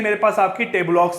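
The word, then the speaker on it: tableaux: ठीक है, अब इसको आप टेबलॉक्स बोल सकते हो। ठीक है, स्पेलिंग क्या है आपके यहाँ पे, टेबल ऑक्स बोल सकते हो, जहां इससे प्रोनाउंस करते हैं आपके टेबलक्स।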